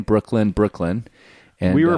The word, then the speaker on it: Breuckelen: It's pronounced the same, Brooklyn.